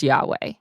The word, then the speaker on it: Yahweh: sounds were not recorded debate surrounds the pronunciation of the name however most Hebrew Scholars would agree that it is Yahweh our founder Jim Hutchins